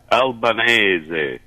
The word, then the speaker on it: Albanese: in regards to Anthony uh he's his correct pronunciation is there Al benazi Albanese Albanese yes correct thank you for the assistance it's going to be difficult to get out of the habit of saying Anthony Albanese because it's what everybody says it's called common